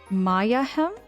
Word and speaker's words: Mayahhem: but it's actually called Mayahhem. Mayahhem temple, which is kind of a play on the word Mayhem.